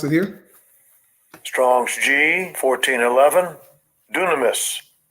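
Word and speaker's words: δύναμις: power here okay G 1411 I let Esau pronounce it here Strong's Gene 1411 dunamis dunamis dunamis right it says strength power ability inherent power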